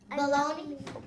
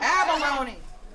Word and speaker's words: abalone: It starts with an A, and it rhymes with Ohlone. Baloney. Close? Baloney. Abalone.